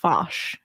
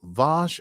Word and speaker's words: Vash: Is Vosh's name Vosh, or is that Picard's accent? Vosh. No, I think it is. Her name Vash. Vosh. I think it's Vosh. Like bath.